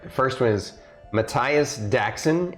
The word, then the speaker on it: Matthias: ready yeah all right the first one is Matthias Jackson it's spelled m-a-t-h-i-a-s like Matthias uh and Jackson is